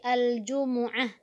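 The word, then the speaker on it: الجمعة: kamu salat al-jumu'ah Jumat jadi bacanya bukan Jumat Tapi al-jumu'ah makanya dalam Alquran ada namanya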